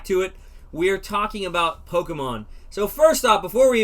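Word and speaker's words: Pokémon: in the south um it's poke and then think about it like this the letter a mon so pokemon that's how you say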